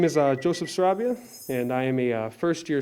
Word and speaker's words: Sarabia: My name is Joseph Sarabia, and I am a first-year student at Elmhurst University.